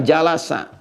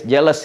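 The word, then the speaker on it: جلس: Majlis ini asalnya dari kata jalasa. Jalasa. Jalasa. Bacanya pakai bahasa Arab ya, jangan pakai bahasa Inggris, jealous gitu.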